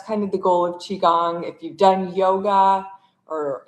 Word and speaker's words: Qigong: So, for those of you who don't know um what Qigong is or how to say it, it's called Qigong.